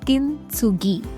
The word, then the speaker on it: kintsugi: In Japan, there's an art form called as kintsugi. I think I'm pronouncing it correctly.